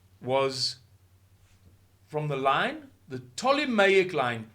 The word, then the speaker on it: Ptolemaic: from the line the ptolemaic line PTO you don't pronounce the p y I don't know